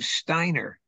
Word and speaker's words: Steiner: woman, and she says, why do you pronounce your name Steiner? I said, because that's how you pronounce it. She says, no, in English you pronounce E-I as E, Steiner.